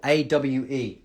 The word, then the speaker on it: awe: How you pronounce or, AWE, or. It's the same pronunciation as or, exactly the same.